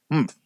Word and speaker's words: Humph: "Humph," said the sand fairy. If you're reading this story aloud, please pronounce humph exactly as it is spelt, for that is how he said it.